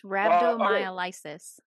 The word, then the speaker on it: rhabdomyolysis: It's rhabdomyolysis. Oh, thank you so much. I was trying to remember how to pronounce that.